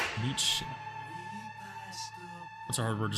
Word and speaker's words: Nietzsche: Nietzsche? Nietzsche.